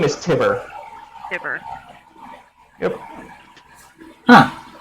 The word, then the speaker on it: Tibbir: His name is Tibber. Dibber. Yep. Huh. Rhymes with It fibber.